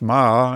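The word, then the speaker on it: 马: But if you read those Chinese characters, the first one being a horse, pronounced Ma, and the next one being for a soldier,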